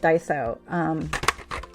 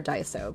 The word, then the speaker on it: Daiso: So if you're not familiar with Daiso, I don't even know if I'm pronouncing it right. It's either Daiso or Daiso, but it's Daiso. Daiso.